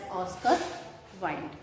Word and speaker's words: Wilde: Though it is written at last, but we pronounce it as Oscar Wilde.